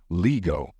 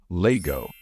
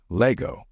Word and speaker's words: Lego: mispronounce this word saying Lego the right way to pronounce this word is Lego not Lego or Lego it's Lego sort of like like how